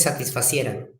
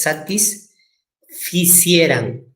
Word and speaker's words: satisficieran: está bien, no es satisfacieran. No es satisfacieran. Es satisficieran. Satisficiera.